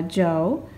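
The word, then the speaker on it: Zhou: is a shank and this one is a jo this one is a chin and this one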